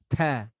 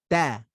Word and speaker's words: ت: I'll say it wrong, ta, and then I'll say it right, da. You hear the difference? When I say ta, you hear like a boom, right? Listen closely. Ta. That's the wrong way. Da. That's the right way.